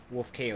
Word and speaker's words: Wolfkaosaun: How do you pronounce it? Is it Wolfkaosaun? Wolfkaosaun.